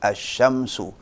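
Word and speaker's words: الشمس: Nah, matahari itu syamsun, masuk alif lam. Bagaimana bacanya? Asy-syamsu.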